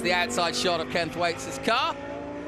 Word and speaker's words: Thwaites: Thwaites, as they call him here. I call him Thwaites because I'm from Lancashire and we have a beer called Thwaites and it's spelt the same, so forgive me. But hey, Thwaites, and he said it's a Welsh name.